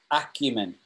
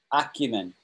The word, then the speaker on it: acumen: how we pronounce it acumen so the emphasis is on that first syllable acumen acne yeah say it